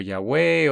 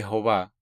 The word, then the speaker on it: Jehová: Algunas personas lo pronuncian como Yahweh, otros hemos explicado en algunas de las otras presentaciones por qué lo pronunciamos Jehová.